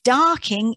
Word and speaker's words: Dorking: his candles there off darking in surrey and that's how it would have been pronounced darking rather than dorking and he became the